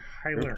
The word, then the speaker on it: Kyler: And we're gonna have to really pronounce that L. Kyler.